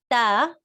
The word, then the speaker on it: ت: Like 2 dots on top is ta, because these are like your 2 upper incisors and your tongue is inside.